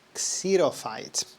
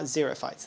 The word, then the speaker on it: xerophyte: Xerophyte. So xerophyte would be the way that you'd say it in English, I think. Pretty sure that's how you'd pronounce it.